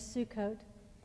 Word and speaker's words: Sukkot: about this story so the party is called Sukkot I don't know if you've ever heard the word before but now you'll know to look for it it's not spelled that way but the pronunciation is Sukkot and it means the festival of booths and